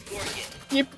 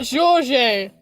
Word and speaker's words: Georges: He mispronounced his own name! FBI open It's up. Georges! Message retracted. Stop deleting your messages. Let me see what you're sending, huh? He mispronounces his Georges. own name. His name is Georges.